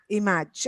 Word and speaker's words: image: at my end but the stress is on the first syllable so it's image image exactly so I think